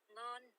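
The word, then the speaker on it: ngon: How do you say this tasty? Stop. Go away. Non. Non. Sounds like N-O-N, right? But N-G-O-N.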